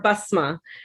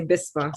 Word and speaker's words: Bisma: And I know that in the Arabic, it's more Basma. And, because my family's from Pakistan, they say Bisma. So it's spelled with an I instead of an A. Same, right? Huh? Same meaning, Basma. Yeah. Like Yes, same meaning. Just the pronunciation and spelling.